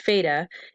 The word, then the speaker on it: FATA: seen in the map the fata or pronounced feta is a narrow strip